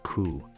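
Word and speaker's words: 九: pronounced she and coup.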